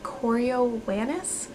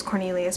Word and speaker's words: Coriolanus: First of all, did I say his name is Coriolanus? Whole time thought it was Cornelius, by the way. I looked up how to say it.